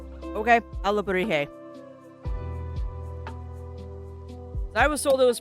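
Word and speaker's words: alebrije: And that's the way I was told to pronounce it. Alabrije? Okay, Alabrije.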